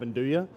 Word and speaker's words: nduja: spices, it's highly unlikely you're going to have nduja.